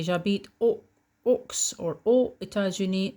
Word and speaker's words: aux États-Unis: This one, because États-Unis starts with a vowel, then you have to pronounce the X like a Z. J'habite aux États-Unis. J'habite aux États-Unis.